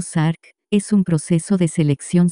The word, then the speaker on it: SARC: revisión de actividades sensibles un sarc pronunciado sarc es un proceso de